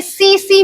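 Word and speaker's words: tsetse: होता है ठीक है ये सीसी मक्खी कहलाता है ये आपकी सी सी लिखते इसको इसी तरह है टी साइलेंट रहेगा ठीक है सीसी मक्खी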